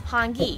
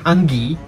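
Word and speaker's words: hāngī: most traditional mori dishes hangi ah come on lady i don't know who you are but your pronunciation is terrible hungi hangi and speaking of cultural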